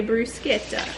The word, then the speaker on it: bruschetta: us they were yeah we learned in Italy you gotta say Bruce Kita the bread I just